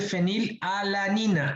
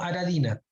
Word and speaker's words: fenilalanina: Esos son los aromáticos, pero el primero, o sea, el último se dice fenilalanina, alanina, no aradina, alanina, ¿ya?